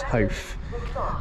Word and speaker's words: Howth: over to Noah, because I know how you pronounce it. It's Howth.